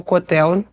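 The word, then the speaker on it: Kotel: E quando eu cheguei até o Cotel, é essa pronúncia, pastor?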